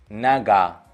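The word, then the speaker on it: нога: उसके बाद है न, ओ, ग, आ, नगा।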